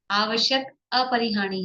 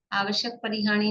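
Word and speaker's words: आवश्यक अपरिहानि: आवश्यक अपरिहानी है, आवश्यक परिहानी नहीं।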